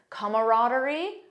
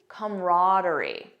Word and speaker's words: camaraderie: real world examples and I'll show you both pronunciations camaraderie camaraderie so you have that camaraderie